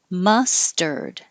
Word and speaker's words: mustard: Mustard. And the vowel in m is the schwa, which is the sound, that upside down e.